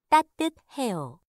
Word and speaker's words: 따뜻해요: 이 가 따뜻해요.